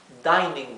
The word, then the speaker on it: dining: denner aquí tenemos una sola n una sola n después de la i y luego tenemos otra vocal más entonces esta i adquiere o mejor dicho cualquier vocal que fuera quiere su sonido o pronunciación larga entonces la i se pronuncia I dining room bien así